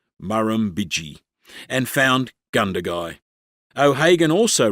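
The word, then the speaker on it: Murrumbidgee: only about Ganduy because the Muramiji River which flows through the town has four syllables.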